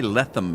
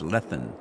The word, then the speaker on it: Glenleathann: back in h Scotland I can never pronounce it Glenn Glenn letham Glenn letham I want to say letham and it's lethan anyway we're back so